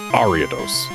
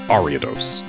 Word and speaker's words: Ariados: It's Ariados. That is how it is pronounced. Ariados.